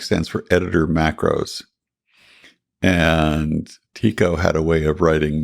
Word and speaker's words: TECO: And Tico is spelled TK? Is that No, Tico, TECO, the text editor and corrector.